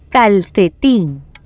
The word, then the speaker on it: calcetín: Calcetín. Bravo calcetín es una palabra aguda, ya que su sílaba tónica está en la última posición.